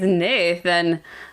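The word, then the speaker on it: Neithan: it's spelled Nathan it's not spelled Nathan it's pronounced Nathan but it's like NE i t h an so naan yeah he's Nathan the wronged jeez yeah self-pity match he's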